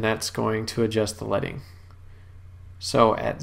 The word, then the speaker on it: leading: and that's it's spelled l-e-a-d-i-n-g but it's pronounced leading and that's referring to back in the old days when they had actually put pieces of lead between rows of text and that would spread